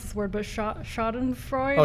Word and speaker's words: Schadenfreude: I don't know how to pronounce this word, but Schadenfreude? Oh, Schadenfreude.